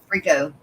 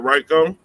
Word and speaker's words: Rico: Of course, he don't go far because he's got long fins, Is it Rico or Ryko? Rico. I told Jay Watts that it was Rico and not Ryko.